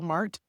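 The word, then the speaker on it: Marte: the baseball player Catel Mart. Am I saying it right? Is it Mart or Marta? Do you know his name? I think it's Marta. Oh, I think it's Marta. Okay.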